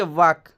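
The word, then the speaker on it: walk: यहाँ पर दोस्तों एल साइलेंट है। WAL के एल साइलेंट इसलिए है क्योंकि हम इसको ऑलरेडी वाक ही पढ़ते हैं। वालक पढ़ेंगे तो अच्छा नहीं लगेगा, इसीलिए इसको एल साइलेंट कर दिया गया है।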